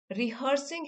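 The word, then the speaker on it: rehearse: हुए प्रैक्टिस करते हुए यहां पे रिहर्स की स्पेलिंग देख लीजिए आर ई एच ई ए आर रिहर्स बोलते हैं लेकिन एच ई ए आर है इसमें ठीक है रिहर्सिंग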